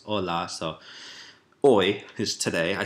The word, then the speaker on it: hola: Don't pronounce the H. You wouldn't say hola, right? Hola, it's hola.